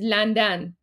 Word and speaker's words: لندن: Right, so guys, the way that we pronounce London in Persian is Landan. Landan.